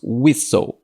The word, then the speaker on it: whistle: que ele é pronunciado, essa palavra é pronunciada de uma forma diferente como ela é escrita, como várias palavras que nós temos no inglês. Nós eh falamos whistle, que significa apito.